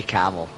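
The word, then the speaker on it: Kemmel: i suppose ben yeah i always say camel that's maybe the scottish in me well it says k-e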